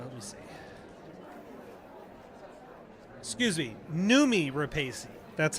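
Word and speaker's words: Noomi Rapace: Ro Remy uh let me see excuse me numi repesi that's how you say her name uh she's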